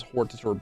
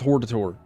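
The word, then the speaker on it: Hortator: It's It's not Hort. It's not Hort. It's not, you know, it's it's Horditor.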